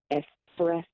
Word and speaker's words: espresso: I'd like to express how much there is not an X in espresso.